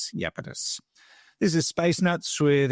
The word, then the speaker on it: Iapetus: It's spelled Iapetus, Iapetus.